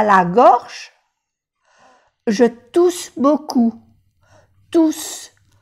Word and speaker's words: tousse: Je tousse beaucoup. Tousse. Se pronuncia bien la S, porque hay dos, pero no se pronuncia la E.